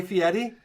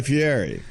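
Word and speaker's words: Fieri: Yeah, I like to say Guy Fiieri because I see an R in there. What? It's Fiieti.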